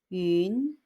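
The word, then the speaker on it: 云: 구름 운자를 쓰고 yun 이성, 윤 하고 소리냅니다. 구름, 윤.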